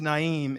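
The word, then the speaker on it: Naeem: I mean, my name's Naimm. It rhymes with naive just about.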